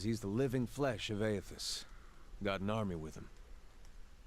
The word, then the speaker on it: Aethys: Aethys, that's how you say it.